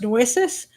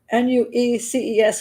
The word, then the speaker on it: Nueces: Shot to death on February 4th, 1999 at Wayne's home, Wainwright's home in Texas, and I think it's pronounced Nueces, Nueces County, and it was handled by the county sheriff's department, and it was eventually labeled a justified homicide.